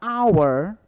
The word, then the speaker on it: hour: casa Porém na palavra our hora tá o h ele não é pronunciado eu sou um DH